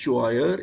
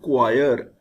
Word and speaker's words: choir: It looks choir, but it is not choir, it is choir. CHOIR is choir. CH gives K sound and we shall pronounce it choir.